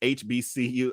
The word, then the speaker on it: HBCU: I mean, from what I can tell, I knew I was saying it wrong. It's HBCU.